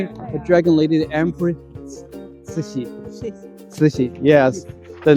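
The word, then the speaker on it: 慈禧: Cixi, yes, the name of that for this for Cixi. Cixi. Yeah, Cixi. Chinese Chinese has 4 intonations. You know, you need to go up, go down, and up again for that pronunciation.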